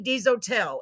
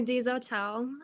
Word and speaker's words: Dezotell: Ladies and gentlemen, I want to introduce our guest tonight, Miss Whitney Dezotell. And I love that name because it's actually pronounced the way it looks like it would be pronounced.